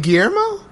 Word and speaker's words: Guillermo: you I mean you you were pronouncing all the letters nothing a problem here I understood what he was saying but I'm like I don't think he's supposed to pronounce all those like it was 2 l's it's supposed to be you know in Spanish that kind of makes a different sound like maybe no kawasan